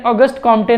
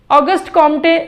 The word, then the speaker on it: Auguste Comte: Sociology word सबसे पहले ऑगस्ट कॉम्टे ने यूज़ किया था। ऑगस्ट कॉम्टे एक फ्रेंच फिलोसोफर है। ऑगस्ट कॉम्ट वैसे इसको प्रोनाउंस किया जाता है, मैं फ्लो में ऑगस्ट कॉम्टे कर जाते हैं।